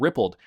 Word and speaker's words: rippled: coins xns coins and rippled pronounce Ripple D so this is all